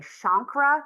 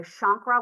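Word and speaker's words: chancre: But with primary syphilis we have what is called a shankra. That is how it is pronounced. A shankra which is a small red hard bump that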